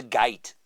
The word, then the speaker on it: git: they'd be like, who's the gite? The Who's git. Git, not gite.